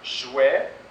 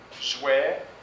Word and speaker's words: jouet: souvent et comme dans jouet fouie mais e plus T et on ne prononce pas le t on ne prononce pas le T jouet fouet mais e I